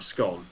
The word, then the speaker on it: scone: No, they're a scone. Those aren't scones. Scone. Scone. Scones. It's pronounced scone.